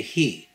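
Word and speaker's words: הִוא: However, with the hare, the Torah uses the same 3 letters, but the vowel changes the pronunciation to he, which is feminine.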